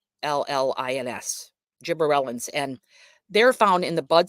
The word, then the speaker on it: gibberellins: And then a special thing that they have is a plant hormone that's called a gibberellins, and that is pronounced, spelled Gibberellins, gibberellins, and they're found in the buds of the flowers, the germinating seeds, and the young tissues.